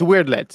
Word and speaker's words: Weyrdlets: No, it's Weirdlets. It's Weirdlets. They're weird looking creatures, so they call them Weirdlets. You know what? I'm gonna take that one on the chin, guys. Weirdlets.